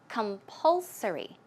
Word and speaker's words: compulsory: Okay, the stress goes right there. So it's compulsory.